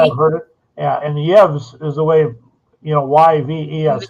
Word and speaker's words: Yves: Yeah, and Yevs is the way, YVES. His name is Yevs, is the proper pronunciation, I believe.